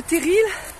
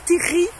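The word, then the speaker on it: terril: qui sont du coin normalement on dit Terri mais bon moi je suis pas ici à la base donc vu que ça s'écrit teril bah du coup je dis teril ces petites montagnes noires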